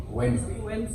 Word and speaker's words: Wednesday: You just say W-E-N Wednesday. N-Z-D-A. Wednesday. The way you pronounce it, just say it like that. Those silent letters, for real.